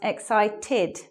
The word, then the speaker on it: excited: This word, even though it's spelled ED, makes an ID sound. It becomes excited.